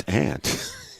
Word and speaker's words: aunt: Well, it's spelled A-U. Well, so what? It's aunt. It's the way it's pronounced.